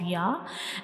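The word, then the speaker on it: ي: Now we move to the next letter, that is Ya. Ya. Ya. Read after me. Ya. Ya. Say it again. Ya. Ya. Now try to recognize the shape of Ya. This is the shape of Ya, and Ya has no dot.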